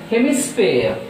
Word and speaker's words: hemisphere: And the next one is hemisphere, hemisphere, hemisphere, so there are 3 syllables, so that stress is on first syllable.